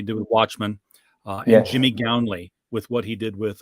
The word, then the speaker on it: Gownley: Gownley.